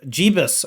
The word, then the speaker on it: Jebas: He says it's pronounced Jebas. Hello, Mr. Jebas.